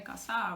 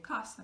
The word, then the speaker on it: casa: So penultimate syllable, like casa. We don't say casa, we say casa because it's ending in vowel.